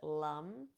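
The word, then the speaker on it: lam: chalk Shakra is Lum it's spelled l a m but we pronounce it Lum and um and I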